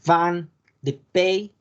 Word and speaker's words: vin de pays: Como en el caso de vin de Pays. La S no se pronuncia.